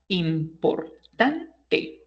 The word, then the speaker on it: importante: For example, we say, for example, in English or in Spanish, importante. So this is a grave word because it has four syllables and the accent goes in the third syllable, right?